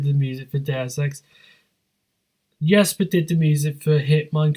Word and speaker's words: Jesper: Yeah, Jesper. Yeah, even though it's spelled with a J.